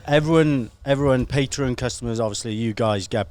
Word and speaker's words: Patreon: do you say it patreon if you're a padre you're a patron if you're on patreon yeah you're a patreon but i haven't heard